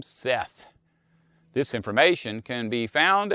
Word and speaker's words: Set: adam in egyptian mythology the name of the god set is believed to have been pronounced seth it is likely that